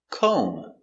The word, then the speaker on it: comb: Comb. K. O. Make a long O. Co. Comb. Comb.